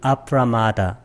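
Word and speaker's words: apramāda: 발음이 좀 틀리죠. 이건 아프라마다.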